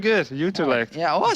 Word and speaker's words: Utrecht: You live in Utrecht or something that's similar to Yes, that, very right? good. Utrecht.